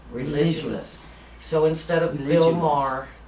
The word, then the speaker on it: Religulous: how to pronounce that it's religous it's very simple religous Religulous so instead of Bill